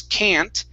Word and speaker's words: can't: But when I pronounce can't, it's a little more nasally.